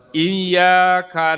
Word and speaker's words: iyyaka: Kalau sepengetahuan saya jangan disentak juga gitu, seperti ada hamzahnya. Iyyaka na'budu wa iyyaka nasta'in. Nah, itu jadi kayak kada ayah hamzahnya. Iqra bismillah. Jadi langsung saja. Iyyaka na'budu wa iyyaka nasta'in. Karena kalau yang disentak itu kalau ada hamzahnya. Iqra bismi iqra.